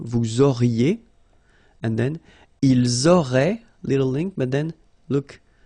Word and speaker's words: auraient: Vous auriez, little link between the two, vous auriez, and then ils auraient, little link, but then look, A-I-E-N-T like that, and you only pronounce E, like we had here.